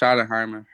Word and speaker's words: Schottenheimer: Yeah, it's pronounced Schottenheimer.